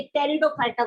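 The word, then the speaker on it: Pteridophyta: ये टेरिडोफाइटा group होता है.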